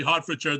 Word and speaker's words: Hertfordshire: you they did and they said it's most definitely hartfordshire they explained a heart is a deer yeah the king would